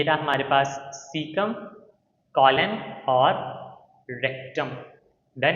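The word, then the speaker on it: caecum: सबसे पहला है सिकम। ठीक है? आप इसको किस तरह से पढ़ोगे? सीकम। पहला पार्ट है हमारे पास सीकम। दूसरा है कॉलन, तीसरा है रेक्टम। ये रहा हमारे पास सीकम, कॉलन और रेक्टम।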